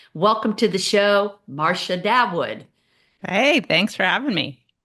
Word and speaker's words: Dawood: Dawood. Dawood. Okay. Marsha Dawood, my dear friend who I can't pronounce her name.